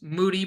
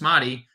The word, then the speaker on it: Moses Moody: Those of you who don't know, we're mispronouncing his name. Just Google. Was it Barkley? Who was it? Yeah, it was Barkley. No, it was Kendrick Perkins. Kendrick Perkins on draft day trying to pronounce Moses Moody's name.